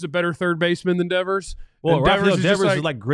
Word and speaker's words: Devers: Yeah, Devers.